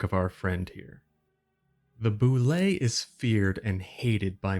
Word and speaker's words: bulette: today we're looking at the boule yes that's actually how you say it it surprised me too